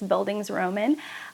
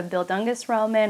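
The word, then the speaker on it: Bildungsroman: um by the way i have pronounced this word many different times and i think it's buildings roman that's my best pronunciation i used to call it a bill dungus roman or a belgianous roman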